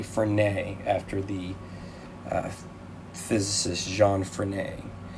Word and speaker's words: Frenet: referred to as a frenet frame i believe that i'm pronouncing that correctly for nay after the physicist jean